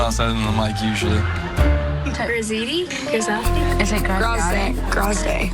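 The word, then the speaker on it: Graziadei: Grazidi? Grazidi? Is it Grazday? Grazday. Does someone tell us how to say his name? How do you say Joey's last name? Yeah. Grazday? Grazday.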